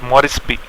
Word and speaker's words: Moresby: And just to remember from the point of view of exams, Papua New Guinea's capital is Port Moresby. So, or Moresby, you can say for the correct pronunciation.